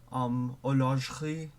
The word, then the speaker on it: horlogerie: So a lot of words they will have an E like enjammed in the middle of it, and you don't say it. So like épicerie, fromagerie. I over stress my R's. Please ignore that. Épicerie, horlogerie. You just don't pronounce the E.